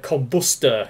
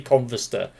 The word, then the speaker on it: Converster: the show chat and when he calls his name he actually says combustor it sounds like he says combustor because of the way no Koreans pronounce certain words and phrases it sounds like he says combustible it's actually converse sir so yeah he's he's